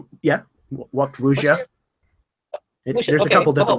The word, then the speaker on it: wuxia: It's not just the how to act like a snake fighter, but the whole, how do you say it, wuxia? Yeah. Wuxia.